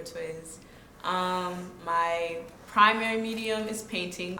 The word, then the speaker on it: TWZ: My artist name is TWZ, pronounced T or Twiz.